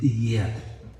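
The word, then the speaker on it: יד: La raíz de yedad es yad. Estoy pronunciando como se pronuncia en hebreo. Yad, que quiere decir mano.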